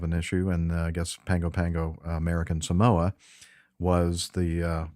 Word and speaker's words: Pago Pago: Polynesians and Samoans uh pronounce the GU as an NG so it's pangopango anyway